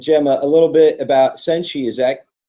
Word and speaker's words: Senshi: And Gemma, a little bit about Senshi, is that correct?